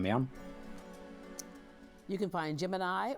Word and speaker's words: Gemini: You can find Gemini or as the space program pronounces it, Jiminy and Mercury remastered wherever books are sold.